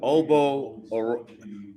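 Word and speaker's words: Ogbo: Oh, hey, it's Obo Okoronkwo. Now, how you pronounce his actual real first name, I don't know, but he just goes by Obo for his first name.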